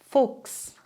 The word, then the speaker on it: Fuchs: Das CH spricht man dann nicht mehr wie gewohnt, stattdessen klingt es wie X. X. Sprich mal nach. Ochse, Wachstum, Lachs, Fuchs, wechseln, wachsen.